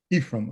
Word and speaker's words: Aephraim: first name i don't think that's embarrassing it's pronounced ephraim ephraim okay thank you very much for agreeing to